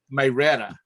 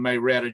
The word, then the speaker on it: Marietta: It's pronounced one way. Oh, Marietta, Georgia. It's Okay. not Marietta, Georgia. It's Marietta. Marietta? Marietta.